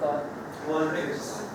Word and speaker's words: Qualtrics: How do you pronounce that? Qualtrics.